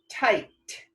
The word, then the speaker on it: tight: Did you know that a GHT sometimes says a T sound? It sure does. So tight. All the rest of the letters in the middle are silent. The GH is silent.